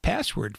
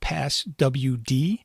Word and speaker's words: passwd: Once our users are created, they're stored in the etc password file. And although I said password, it's actually spelled passwd, so I will pronounce it both ways.